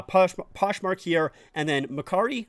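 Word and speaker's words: Mercari: Poshmark here and then marari I think is how you pronounce it this one here is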